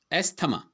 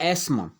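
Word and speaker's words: asthma: ठीक है, ये है एजमा और एस्मा। इसको हम एस्मा बोलते हैं और हम इसको क्या प्रोनाउंस करते हैं, एस्थमा।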